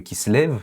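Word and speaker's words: Kislev: On sait que c'est on va le prononcer en hébreu qui se lève.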